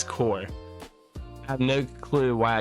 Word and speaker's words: Corps: The one I want to f The one I want to thank him for though is correcting my pronunciation of corpse when it's core.